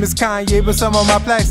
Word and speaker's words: Kanye: Now all I need is y'all pronounce my name is Kanye, but some of my plaques, they still say Kane.